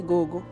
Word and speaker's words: Gogo: it right okay but from where I come you can say Gogo Gogo yeah okay so I'm